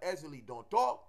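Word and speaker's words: Ezili Dantò: You know, so when you have Ezeli Donto with the accent on the O, you find that she likes certain things.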